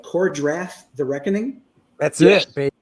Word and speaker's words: Kor-Drath: The book we're talking about, of course, is, tell me if I'm saying it right, Kor-Drath, The Reckoning?